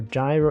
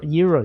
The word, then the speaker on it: gyro: Minced beef and aloo dosa or gyro. Euros. You know it's pronounced euros.